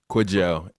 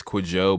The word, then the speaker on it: Kwajo: Is that how I pronounce it? Kwajo. It's Kwajo.